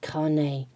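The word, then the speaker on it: Kāne: So it is Carne, but more like a H.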